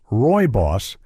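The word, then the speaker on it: rooibos: Roy Boss, pronounced Roy Boss, is naturally caffeine-free and rich in minerals that seniors need, including calcium, iron, and zinc.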